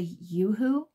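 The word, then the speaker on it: UHU: I haven't tried the Yoo-Hoo. I think that's how you say it, U-H-U.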